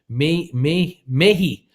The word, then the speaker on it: Mehi: How is your, Mahi is how you pronounce my name. Mehi is how you pronounce my name.